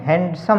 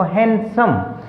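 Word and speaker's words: handsome: हम बोल जाते हैं इसको हैंडसम, बड़ा ही हैंडसम लड़का है, ऐसा नहीं, हैंडसम नहीं बोलना इसको, हैंडसम, क्योंकि डी तो यहाँ पर साइलेंट है।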